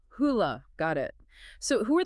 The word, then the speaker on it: Hole: And remember, the Norwegian pronunciation is closer to Hoola. Hoola.